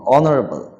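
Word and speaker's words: honorable: ও থেকে শুরু হবে অনারেবল এইচ হবে না মানে সম্মানীয় এখানেও এস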